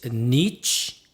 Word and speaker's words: niche: so first pillar is Niche and offer niche nich and offer some people pronounce Niche so you know whatever you like so nich and offer